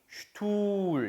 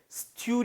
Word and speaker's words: Stuhl: 그 단어 를 보고 'sp' 로 시작 하는 건 ' schp' 처럼 들린다 고 말 했어 요 . 'St' 는 'scht' 입니다 . 'st-ool ' 이 아니라 'scht', 'scht', 'scht' 소리 입니다 . ' Sch' 이고 'u' 다음 에 'h' 가 보이네 요 . 모음 뒤 에 'h' 가 오기 때문 에 앞 의 모음 을 길 게 발음 해야 합니다 .